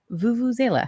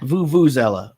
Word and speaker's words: vuvuzela: can't turn off now all right vuvuzela voo voo zella okay okay so i wouldn't move that but it's vuvuzela okay zela well the